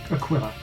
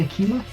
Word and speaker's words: aquila: now that's the thing i know that you're pronouncing it correctly aquila okay look i always it always sticks in my mind to be a killer okay and i know i'm wrong which really really annoys